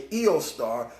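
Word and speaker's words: Eostre: It's actually Eostar. This is where you get the name Easter from. This is Easter here. It's originally in the German language, it would be pronounced Eostar.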